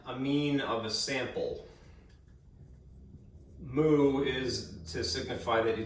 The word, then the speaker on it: mu: mean which uses this greek letter which is pronounced mu right that is again um why i had